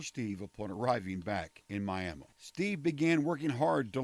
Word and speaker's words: Miami: okie speak around here our town's name is pronounced Miami Cassie was beautiful and a very talented actress